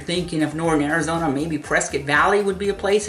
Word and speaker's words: Prescott: Now, if you look at Prescott, however you want to say it, don't get insulted, I said it wrong. Prescott scores at 187, so Prescott below national average, and that's pretty good.